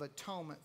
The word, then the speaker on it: atonement: Here, so one of the great ways I like looking at the word atonement is in three syllables. At one meant. At one meant. Atonement.